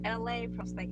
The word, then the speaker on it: Elay: Once again, my name is LA, pronounced like LA, like the city I'm from.